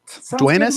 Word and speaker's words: Duenas: Duenas. Am I saying that right? Duenas?